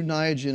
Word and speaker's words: Niagen: True Niagen is correct.